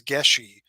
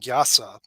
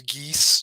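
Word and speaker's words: geis: is that people have these these geshi or gesh that's the old Irish pronunciation the the Modern Irish is gas and gasa and if you've ever played Dungeons and Dragons um there is a spell that people always pronounce geese g-e-a-s but it's actually gas and what that is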